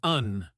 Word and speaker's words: and: In its strong form, it rhymes with sand or hand. But have you noticed that in fast speech, it often sounds like un or just a quick n.